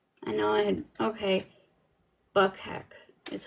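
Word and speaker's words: Bukhenik: There's something that we didn't even Yuri Buchanik. I don't know how it's said. Let me see. I know I had, okay. Buckheck is how it's said.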